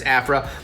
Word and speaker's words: Aphra: Aphra white I feel like I said it right it could be April but I'm pretty sure it's Afra so she is a